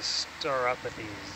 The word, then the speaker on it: Stauropathes: Steve says it's a Stauropathes. Stauropathes. Thank you, Steve. I like my pronunciation better. Mine It could be scientific names or potato, potato. So your interpretation is also correct. I'm just pronouncing how like the ancient Greeks would have.